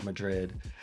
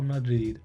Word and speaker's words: Madrid: I just would hate myself if I said Un Paseo por Madrid. I really want to say it like a Spanish person. Un paseo por Madrid, Madrid, Madrid, un paseo por Madrid, Madrid.